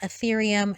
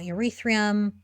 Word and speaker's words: Ethereum: and the last thing is that it is pronounced ethereum not urethrium and that's it that's all i have for